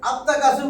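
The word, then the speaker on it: التكاثر: দেখেন তো আত্তাকাসুর কইছি, লামের উচ্চারণ হয়েছে? না হয়েছে ভাই? আত্তাকাসুর, এই দেখেন তা, তা কি? তা আমার শামসি হরফ।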